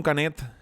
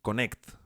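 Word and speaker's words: Knecht: la irrupción de Dalton canet en la rotación de los Lakers he visto que la pronunciación correcta es más bien decir Connect pero a mí me gusta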